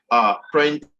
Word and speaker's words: apprentice: Apprentice, apprentice, apprentice, apprentice. Print is where it is, the second syllable.